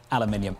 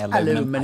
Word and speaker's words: aluminium: Aluminium. Every time I say aluminum just don't feel good.